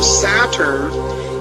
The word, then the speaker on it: Satur: It says, now the name Saturn in Chaldee is pronounced Satur, S-A-T-U-R.